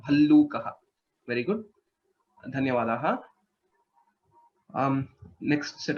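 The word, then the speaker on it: भल्लूकः: Bhallukaha. Bear. Right. Bhallukaha. Bha Mahaprana, Lakara and Lakara. Bhallukaha.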